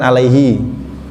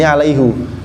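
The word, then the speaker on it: عَلَيْهُ: pak yang lain kan Alaihi ya rata-rata kan Alaihi kan di sini alaihu karena ini yang kita baca adalah qiraah riwayat hafz anasim beliau membacanya alaihu sedangkan di qiraat yang lain membacanya Alaihi ya Enggak apa-apa karena kita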